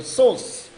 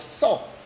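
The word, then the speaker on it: sais: And I didn't understand how do you pronounce it, because saw has an S at the end. So I said je sauce. But it wasn't sauce, it was saw.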